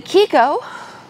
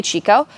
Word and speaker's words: Chicco: Vista if you wanted the kiko and some people say Chico they ask that we pronounce Akiko which means child in Italian the folks at Kiko